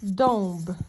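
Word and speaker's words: dąb: Наприклад, якщо ми маємо слово кут, так, польською кот, то подивіться, і маємо слово, наприклад, дуб, домб, так, ось так.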